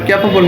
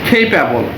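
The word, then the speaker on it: capable: ক্যাপেবল, আমরা বলি ক্যাপেবল, এটা আমরা ক্যাপেবল না বলে খেইপ্যাবল, খেইপ্যাবল। এখানে সিটাও আমরা, এখানে সির উচ্চারণ সি না হয়ে যেহেতু কয়ের মতো হচ্ছে, সেই ক্ষেত্রে খেই হবে খেইপ্যাবল, খেইপ্যাবল, খেইপ্যাবল, ঠিক আছে।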